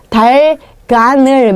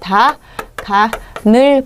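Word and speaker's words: 닭 안을: 실질 형태 소기 때문에 요때는 아까 그 형식 형태소 럼 달간을 뭐 이렇게 발음하시면 안 되고요 예 일단 대표 음으로 바꾸셔야 돼요 자 베스트 고무 팩이었어요 이거 뒤쪽이 표준 발음이 그래서 닭 아을 이렇게 한 다음에요 기억을 그다음에 여음을 시켜서 어떻게 하셔야 돼요 다 가늘 봐 이런 식으로 하셔야 돼요 예 다시 한번 해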